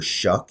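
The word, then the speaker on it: Shough: And uh Tyler, apparently Tyler Shuck is how you pronounce his last name, the quarterback, which is pretty I don't know how to feel about that.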